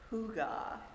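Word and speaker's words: hygge: Well, that word is pronounced hugga, and it's a Danish Norwegian term for a warm, friendly uh gathering.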